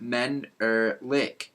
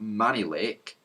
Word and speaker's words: Menelik: sounds like some sort of Lollipop it is pronounced men Lake not man Lake sergeant and it is a very interesting name